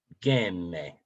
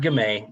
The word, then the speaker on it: Gamay: Gamay. Okay, so it was right in between what I say. Gamay. Not Gamay, not Gam, Gamay.